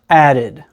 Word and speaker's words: added: It's something that we call the schwa sound. It's the lazy sound that we have in words like the, bottom, vanilla, or about. So again, because we have a D before the ed, this word is pronounced added.